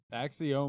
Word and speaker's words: Axioma: however fucking long we've been around, still can't pronounce it right. So it is what it is. Axioma.